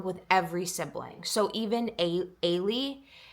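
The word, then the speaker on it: Eilidh: And her name in the book is spelled Eildh. I had to actually get the audio version so I could understand how her name is pronounced, but it's pronounced Ailey, which is like such a beautiful name.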